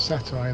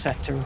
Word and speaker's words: satyr: a German that gets satire though. That's good. I hope. Or does he? What is satire? Is it the satire of a mutated night elf? You know, it's pronounced satyr, right?